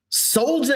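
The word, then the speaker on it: Soljah: Soldier Anderson.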